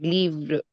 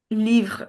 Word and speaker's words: livre: but for livre you're pronouncing R quite conspicuously, like livre, not livre. Livre. No, it's actually livre. The typical R sound. That's there. It's not just bland R sound of English.